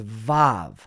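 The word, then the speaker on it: ו: is now in modern Hebrew translated as vav. Vav. So instead of making a W sound, it makes more of a V sound. It went from wa to va.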